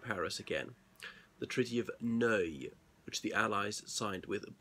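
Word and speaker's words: Neuilly: a district of Paris again the Treaty of no which the Allies signed with Bulgaria now know is spelled n e you I double l why but not pronounced knowingly some people think so the Paris peace treaties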